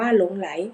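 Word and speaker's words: หลงใหล: ไอ ไหล อ่าน ว่า หลง ไล ออก เสียง ร่วม กัน สนิท เวลา ผสม สระะ ข้อ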